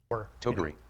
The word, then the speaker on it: Toguri: Toguri. a good cause, and we'll see if Toby can get that pronunciation right in the meantime. Toguri. No, I think that's the correct pronunciation. Okay, that was right.